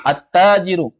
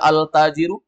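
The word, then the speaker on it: التاجر: a ada alawwal alawwal attau ATT attajiru attajiru boleh dibaca altajiru gak boleh karena huruf ta ketika kemasukan Al langsung masuk diidgamkan bahasanya diidgamkan dimasukkan idgam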